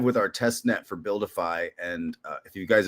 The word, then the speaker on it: BuilDeFi: So um Buildify is spelled Well, you can see it on this stream here, guys, if you're looking, but it's BU LDFI. So build defy.